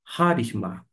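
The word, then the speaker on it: χάρισμα: palavra justamente ó harisma a pronúncia aqui é jisma por causa de quê Porque nós temos a sílaba tônica na primeira a sílaba tônica está aqui no ra desta forma harisma que é justamente referindo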